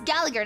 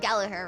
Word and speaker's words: Gallagher: to G Gallagher it's Gallagher not gager right I think it's the the G you pronounce such tight security they're